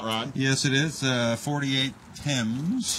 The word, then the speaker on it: Thames: Yeah, the H is silent. Yes, it is. And this is right your hot rod. Yes, it is. 48 Thames. Thames.